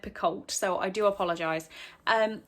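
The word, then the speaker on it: Picoult: her name wrong again i believe the audiobook says it as pico but i've always said piccold so i do apologize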